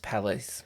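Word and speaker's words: Palais: not like the State Theater or something it's pronounced Palace pal the police theater the police theater um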